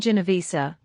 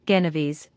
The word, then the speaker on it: Genovese: Kohan, the names you mentioned are well known to us, but you mispronounce them. The first is called Adamski, the second, Genovese, and the third, Mihalik.